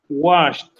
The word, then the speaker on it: washed: Washed. Excellent. What is the pronunciation of the verb watch?